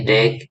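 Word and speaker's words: deque: Ya, contohnya, lalu antrian berakhir ganda ya, terakhir ya, sebuah request ya diucapkan sebagai DEG atau antrian berujung ganda adalah struktur data seperti antrian yang mendukung penyisipan dan penghapusan di bagian depan dan belakang.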